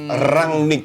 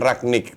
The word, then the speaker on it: Rangnick: Tadi pertanyaannya adalah di tim apa Ralf Rangnick pernah menjalani 2 peran sebagai pemain sekaligus sebagai pelatih. Nah, jawabannya adalah tahu sebagai apa? Nah, Kapan? namanya Rangnick bukan Ragnik.